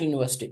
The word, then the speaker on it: university: Similarly, my brother studies in dash university. Which university? I am not telling the details. So then the cannot be used. University, pronounce it, it is U.